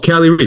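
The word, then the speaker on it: Kali Reis: Oh, Cali Ree.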